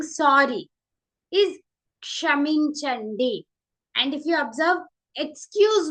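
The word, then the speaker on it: క్షమించండి: You're saying sorry is kshaminchandi. And if you observe, excuse me is also kshaminchandi. Sorry and excuse me. We use same words in Telugu. Kshaminchandi. It's a little bit tricky to pronounce. It's ksha.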